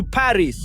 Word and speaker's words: Paris: in the city of Nice down in southern France heading to Paris. Or should I say Pari. That's how they pronounce Paris in French.